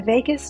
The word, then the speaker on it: vagus: The vagus nerve. It's kind of like Las Vegas, but it's spelled a little different.